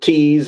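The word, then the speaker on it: Thies: Uh and then the the our last commit is the Tease Kid. I pronounce it Tease. It's T H I E S.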